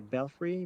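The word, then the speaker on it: belfry: 15t high curtain wall a belfrey that's how you say it a belfrey b a l f r i y yes yeah where that's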